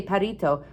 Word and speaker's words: perrito: Some people couldn't say his name right because you have to kind of roll your tongue to say the name of the two R's together. Not everybody can do that. We all tried to do it, to say perrito, like Tiago said.